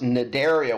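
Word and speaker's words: Cnidaria: was Porifera coral was nidaria with a silent c c and i dar IA so that's the end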